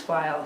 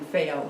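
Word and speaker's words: faille: Just by the way, it's pronounced file here in fail in the UK.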